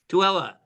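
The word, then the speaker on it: Tooele: Don, you'll have to correct me if I pronounce this wrong. In Tulele. Tuella. Say it again, please. Tuella.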